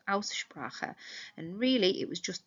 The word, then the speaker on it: Aussprache: Remember, pronunciation is Aussprache, and the AU, if you remember, being an ow sound, so Aussprache.